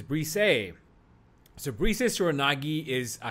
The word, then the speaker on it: Brise: Some people call it Brise. But I have it on good authority that the pronunciation is Brise.